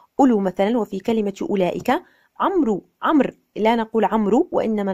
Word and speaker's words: عمرو: كلمة عمر وما بين عمرو. عمرو بوجود الواو، لكن لا نقول عمرو، وإنما نقول عمرو. عندما نقول عمرو هذه قراءة خاطئة.